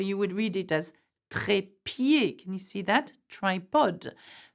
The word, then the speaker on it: trépied: So you would read it as trépied. Can you see that? Tripod. The same sound, E, trépied, or pied, like the foot, okay?